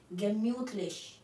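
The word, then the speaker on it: gemütlich: German में कहते हैं गेम्यूथलिश, सीधा spelling ji ई गे एम यू नाउ म्यू टी म्यूथ गेम्यूथ और एल आई सी H leash गेम्यूथलिश।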